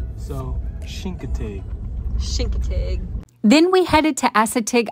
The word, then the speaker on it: Chincoteague: name of that no with a CH but you pronounce it with an sh so shinkate then we headed to